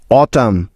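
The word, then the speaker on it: autumn: column C ও এল ইউ এম N column অটাম এ ইউ টি ইউ এম এন অটাম হাইম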